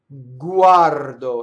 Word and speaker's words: guardo: So U A R do. That's the other way you can separate, right? Guardo. It goes all throughout your mouth.